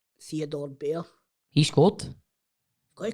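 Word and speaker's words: Bair: Is it Bear or is it pronounced Bear. Barry? It's B-A-I-R. No, it is Bear.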